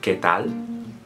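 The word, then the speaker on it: qué tal: they are you say ketal kal. Basically, when you have q u e sounds or q u i's, it's always k or key, not qu or queen.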